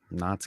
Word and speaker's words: Nantes: But Nantes. Knots, guys. It's one of those French names that it's like it looks like you pronounce all the word, but you don't.